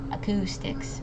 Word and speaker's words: acoustics: uh uh over here the O and the U make a double o sound so it's O Acoustics emphasizing on it Sy